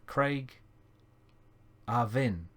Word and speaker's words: Craigavon: Oh, and it's pronounced as Craig Arvin. Ah, okay. Craigavin.